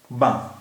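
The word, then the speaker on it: banc: पढ़ रहे हैं बा उसका रीजन यह है कि फ्रेंच में जो ज्यादातर किसी वर्ड का किसी शब्द का जो लास्ट कंसोनेंट होता है उसे हम प्रोनाउंस नहीं करते ऐसा कोई रूल पक्का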